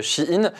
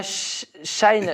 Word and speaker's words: Shein: Et on me dit, c'est pas Shine la prononciation, apparemment, c'est Shein.